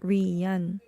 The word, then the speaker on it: Rian: But it sound like that when you read it. Rian.